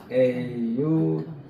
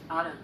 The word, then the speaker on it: autumn: 그 다음에 이제 됐고, 그 다음에 요거 가을인데 요게 N이 묵음이에요. AUTUMN. 요거 한번 따라서 해보세요. 미국식. Autumn. 오텀. 미국식은 다시 한번 잘 보세요. 앞에 게 미국식이에요. Autumn. 얼음. 꼭 얼음 하는 것처럼 들려요. 근데 영국식은 Autumn. 오텀.